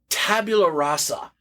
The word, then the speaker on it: Tabula Rasa: I'd still be playing freaking Tabula Rasa.